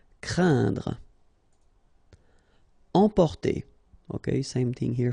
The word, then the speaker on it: craindre: as well, and then it will be pronounced like un, so keep in mind that it goes in your nose, so you don't hear any N when I pronounce it, and then C plus R will produce the sound cr, crain, craindre.